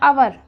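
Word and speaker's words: hour: की आवाज गायब हो गई तो आपका बचा अवर और अब आपका क्या बन गया ए से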